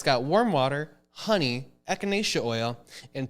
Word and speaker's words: echinacea: And if you're sick, take echinacea. I don't know how exactly. Echinacea. Oh, is that how you pronounce it?